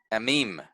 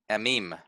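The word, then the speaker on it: עמים: So this word, the word that means peoples here, is amim, amim, okay? And we stress, we stress the second syllable, meme here, because of that accent mark.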